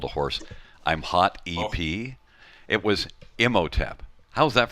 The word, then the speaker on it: Imhotep: like just a wall of ones that I've mispronounced because you do this job long enough. There's a lot of them. But, I'm Hot EP and Imhotep.